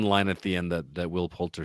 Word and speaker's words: Poulter: But I will say that Will Poulter, is that how you say his name?